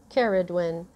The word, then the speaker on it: Cerridwen: name but that was spelled in my mind it was spelled c e r r y d d w w-y-n and i looked it up that way and it says do you want to spell it c-e-r-r-i-d-w-e-n and i'm like okay uh and it is carawin um and that is a celtic goddess she um i was